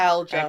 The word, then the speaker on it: fibromyalgia: How does Chloe's fibromyalgia... How do you pronounce that? Fibromyalgia? I think the way you just did. Yeah. Do you pronounce the I? Is it algia or like algae? I think it's algia.